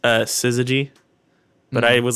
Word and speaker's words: syzygy: So I pulled out the Wikipedia page just full of their episode names, and I found, I think it's technically pronounced Syzygy, but I was like, Syzygy.